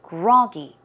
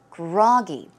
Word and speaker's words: groggy: word groggy right so the stress goes on the first syllable it is groggy groggy synonyms are sluggish sluggish